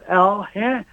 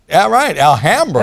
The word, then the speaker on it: Alhambra: It's pronounced Alhambra. All right, Alhambra. Emphasis on the ham, I'll tell you that.